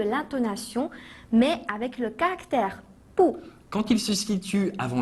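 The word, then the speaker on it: 不: Quand il se situe avant le quatrième ton, il change de prononciation et se prononce ainsi pou au deuxième ton.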